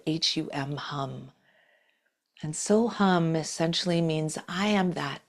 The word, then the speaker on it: So Hum: So if you'd like to try that with me today, we're going to do the mantra So Hum. So, S-O, and hum, pronunciation spelled H-U-M, hum. And So Hum essentially means I am that with a capital T.